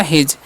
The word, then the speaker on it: his: तो एच से होता है हवा, आई का उच्चारण हर्षी, एस का उच्चारण जत हो गया हिज।